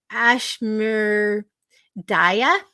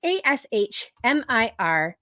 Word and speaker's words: Ashmirdhaya: Ashmir Daya. It's Ashmirdhaya.